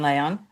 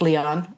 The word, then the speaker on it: Leon: Leon. People think it's Leon. It's pronounced Leon because it's Spanish, just so you know.